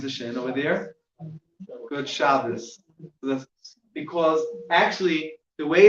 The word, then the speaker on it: Shabbos: That's not the Ashkenaz way of pronouncing it. That would be a suf, but the Yemenite way would be a thuf. So it's called Shabbos.